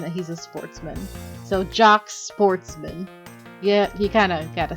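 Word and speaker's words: Jacques Portsman: I'm Jock Sportsman, prosecutor. Now, the thing is that some people say Jock, like, because that's a traditionally French name and you don't really pronounce the S.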